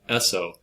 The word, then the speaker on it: Esso: products under the brand Esso which is the phonetic pronunciation of the initials s and O and Standard Oil Jersey